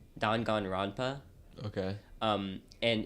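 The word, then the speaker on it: Danganronpa: called um I'm going to butcher this it's pronounced dongan Rona okay um and it's the concept of the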